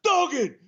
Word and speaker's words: Duggan: And then he would correct you, go, "That's Duggan, 2 G's. Duggan, Duggan, tough guy."